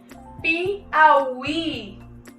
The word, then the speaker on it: Piauí: Olha a diferença desse I para o I inicial da sílaba pi. Piauí.